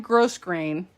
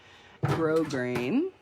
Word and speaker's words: grosgrain: ribbon it looks like gross grain but um i think i was 50 before i realized that the s is silent so don't be like me the s is totally silent grosgrain and this is brand